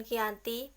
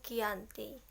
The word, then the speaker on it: Giyanti: yakni di desa Janti dalam pelafalannya pun Belanda ia tersebut dengan Giyanti dan cara tertulis ia terbaca Nike anti tempat tersebut dikenal dengan